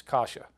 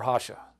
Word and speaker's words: Rocha: It's spelled Rocha, but it's Kasha, or Hasha.